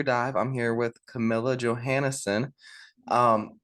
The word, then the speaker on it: Johannessen: I'm here with Camilla Johansson um pronounced the English way uh not the Norwegian way how are you doing